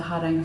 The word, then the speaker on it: Hardanger: the side of the Hardanger Fjord. And the correct way to say this is Hardanger. Hardanger. And we Australianised it to be Hardanger. Fair enough. Yes. And I'm going to keep saying Hardanger because That's all right.